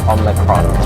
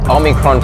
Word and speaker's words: Omicron: It didn't roll off the tongues like Delta. Omicron, 3 syllables, so a little bit trickier there.